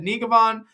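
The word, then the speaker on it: Njegovan: I said Nigavan. I did my research. I spoke with some people. They said, yeah, Nigavan sounds right.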